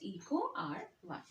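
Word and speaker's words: EcoRI: so that together means Eco R1 and is pronounced as Eco R1 all right so let me recapitulate what we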